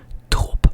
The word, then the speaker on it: drop: And so other Dutch people might say, like, they might use like a rolling R, for example, in the word, let's use the word licorice. Drop, I would say drop, but there are also people that would go like drop.